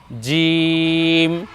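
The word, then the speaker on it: جيم: নুক্তা এর নাম হলো জিম এ বর্ণ আমরা উচ্চারণ করব জিহ্বার মধ্যখান তার বরাবর উপরে তালু সঙ্গে লাগিয়ে জিম জি নিচে এক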